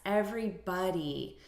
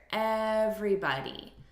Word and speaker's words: everybody: the syllable stress here everybody so we're stressing the first syllable everybody hey everybody repeat